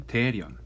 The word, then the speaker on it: 대련: 여기에 맞춰 러시아는 류이순, 그러니까 한자로는 여순, 그리고 다리엔, 중국 발음은 다리엔이지만 여기는 우리 발음은 대련, 요동반도에 있는 이 땅들을 점령합니다.